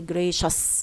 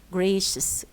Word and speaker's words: gracious: We spelled with O-U-S we have gracious. Don't say gracious. no, gracious.